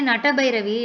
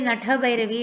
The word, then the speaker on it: Natha Bhairavi: Because if you say Nata Bhairavi, it will be Ta. If you say Natha Bhairavi, it will be Tha. The number itself will change. It's Natha.